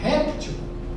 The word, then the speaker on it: reptil: Se não tem acento é reptil. Se tiver acento é eh é é réptil, né?